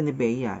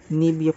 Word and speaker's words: Nivea: mismong nivia for men Hindi siya nivea it's nivia for men siya pang ano niya